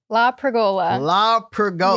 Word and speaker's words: LaPergola: LaPergola. Yes. And I have it phonetically here too.